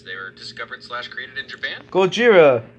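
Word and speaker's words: ゴジラ: Gojira. That's how you say it in Japan.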